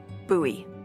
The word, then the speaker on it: Bowie: And then all of a sudden, with no warning, he pulls out this huge rusty Bowie knife. It's actually pronounced Bowie.